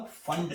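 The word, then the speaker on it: Pfund: P silent होता है, तो पी फंड सीरीज आपका आ जाएगा Ni इक्वल्स टू 5 और NF 6 7 8 सो ऑन।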